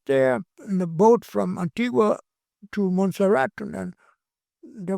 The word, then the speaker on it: Antigua: Antigua. Yes. Agua, come on, you cannot pronounce it properly.